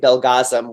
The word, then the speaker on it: Belgazem: IPO, a guy named Belgazem, which, as he explained to me, I said, how do you pronounce your name? He goes, rhymes with orgasm.